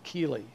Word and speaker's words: chele: And chelation comes from the word chele, C-H-E-L-E, the hard C like in chemistry.